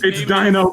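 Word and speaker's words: Deno: And then from Karabe, It's Dino Brando. It's Dino Brando. Yeah, it's spelled with an E.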